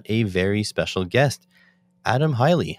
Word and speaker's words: Haile: And with me today, I've got a very special guest, Adam Haile. How are you? I'm doing good. Doing good. Did I pronounce the name right? You did, in fact. Okay. It is Haile.